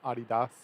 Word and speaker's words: Adidas: it's like a adidas you know how we pronounce it adidas here but it's adidas in german i think you've said